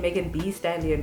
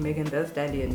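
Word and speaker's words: Megan Thee Stallion: stallion's name because the the t-h-e-e is actually pronounced t-h-e and everyone's been like i've been saying in megan b stallion but it's actually meghan the stallion you know kind of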